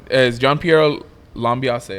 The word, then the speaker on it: Gianpiero Lambiase: Because the verbiage that came out of is Gianpiero Lambiase, right?